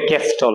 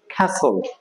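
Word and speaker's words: castle: এ এটা অনেকেই বলবে ক্যাস্টল এখানে টি এর উচ্চারণটা হবে না ক্যাসল খ্যাসল খ্যাসল সেটা খর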